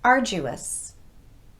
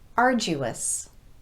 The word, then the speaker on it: arduous: credulous a credulous person will believe almost anything arduous arduous it was a long and arduous task but